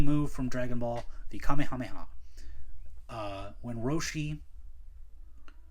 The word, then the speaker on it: Kamehameha: time he says it, he would go the Kame Hamea. And I'm like, it's not Kamehameha.